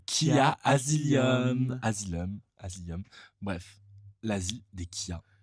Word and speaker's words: Khia Asylum: desia pour en parler faut savoir le prononcer c'est qui a asilum l'asile des kia c'est pas c'est pas compliqué islam comme la saison de American story voilà tu veux expliquer